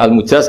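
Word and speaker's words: مجاز: sanad itu untuk almujaz bacanya almujaz karena dari fiil madhi ajaza jadi mujaz itu yang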